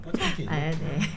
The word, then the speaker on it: 포템킨: 러시아 발음 뽀잼킨.